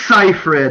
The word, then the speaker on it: Seyfried: I mean, as you said, Amanda Seyfried's character, and I always mispronounce the name. But I always it's Seyfried, and I only know that because I spent 20 minutes.